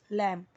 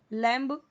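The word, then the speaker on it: lamb: लैम, लैम्ब नहीं, लैम्ब ऐसे पूरा ब नहीं बोलना है, इसे फावन या फाउन नहीं पढ़ना है, ओके।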